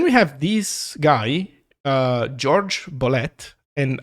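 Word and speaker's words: Jorge Bolet: uh george bullet and i know like i'm kind of mispronouncing his name but i think that's how he pronounced it because he's from latin america but he moved to the united states and he always used the uh a more americanized pronunciation on his name so george uh george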